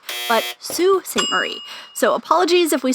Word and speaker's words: Sault Ste. Marie: Before we go any further, we had no idea that we were pronouncing the name of the city incorrectly. And last week, a few of our Canadian friends informed us that it's not Sault Ste. Marie, but Sault Ste.